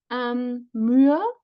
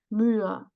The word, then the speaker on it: Mühe: So the idea is also here to help the reader that is two syllables and that this should be separated, right? That we have two syllables here. Mühe, sehen. But it has also no phonemic status, no quality, this ha.